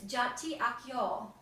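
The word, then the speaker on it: Çağatay Akyol: I could pronounce it, to learn how to pronounce it. And it's Jati Akyol.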